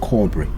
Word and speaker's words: cobre: borrowed from the portuguese which also means the same and pronounced cobra number nine prego the